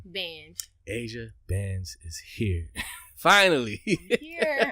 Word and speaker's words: Bange: Bange.